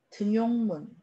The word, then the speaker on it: 등용문: 자, 여기는 니은 첨가가 일어나지 않습니다. 그래서 발음 그대로 등용문이 맞습니다.